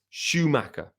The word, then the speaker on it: Schumaker: 100 that's correct but I'm gonna go with Schumacher like the Formula One driver named Michael Schumacher not spelled the same but I believe perhaps pronounced the same when I first looked